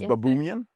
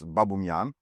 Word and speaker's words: Baboumian: It's an Armenian name. Yeah. and in but the the real Armenian pronunciation sounds like overly posh and weird if if I do it so it's babuman babuman but